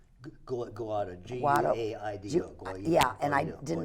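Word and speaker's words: Guaidó: But you know, the problem is if is his name pronounced Guaido? Guaido, Guaido.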